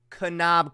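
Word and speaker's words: Kanab: some smoked maple canab oh it's pronounced canab Creek I'm sorry o okay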